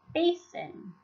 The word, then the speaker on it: basin: The first syllable is an open syllable because it ends in one vowel, bay. The second syllable is a closed syllable because it ends in a consonant, keeping the vowel short, sin.